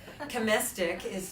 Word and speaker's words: Chomistek: You've actually already met Chomistek. That's how I remember. Chomistek rhymes with majestic.